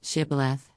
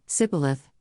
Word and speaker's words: shibboleth: would say to him then say shibboleth and he would say sibilith for he could not pronounce it right then they would take